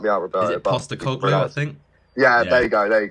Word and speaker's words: Postecoglou: Like when we appoint, I can't pronounce his name, you're gonna have to help me out, Roberto. Is it Postecoglou, I think?